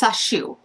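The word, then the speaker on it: Sacheu: It's Sashu. I keep pronouncing it probably wrong. S A C H EU. Is that right? Yes. Sashu.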